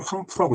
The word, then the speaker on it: 황푸: 황보는 황푸라고 있네요.